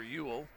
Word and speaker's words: Uhl: Free throw good by Ewell. UHL is how it's spelled.